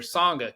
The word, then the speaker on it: Sangha: Sangha.